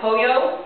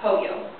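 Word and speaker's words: pollo: from the English language the Double L Sound actually makes a y Sound by poo as in chicken it's spelled p o l l o but it's pronounced poo the N with the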